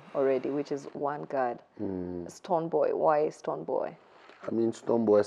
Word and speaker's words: Stonebwoy: Stonebwoy. It's spelled Stonebwoy, but it still means Stonebwoy, so...